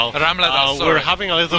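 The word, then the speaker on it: Ramlethal: how it's spelled properly? Ramfetal? Ramletal.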